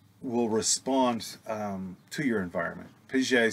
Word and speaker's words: Piaget: Here in Texas, it would be Jean Piaget, P-I-A-G-E-T, Piaget.